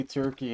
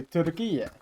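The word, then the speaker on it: Türkiye: We got to We got to actually say it correctly. We can't say Turkey anymore. We got to say turquoia.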